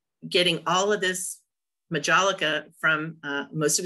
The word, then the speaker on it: Majolica: The Majolica? Yeah, but that J is pronounced like an H. No, I'm anglicizing it. It would be Majolica.